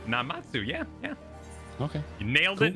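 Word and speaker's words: Namazu: Did I pronounce Namatsu? Is that right? Namatsu, yeah.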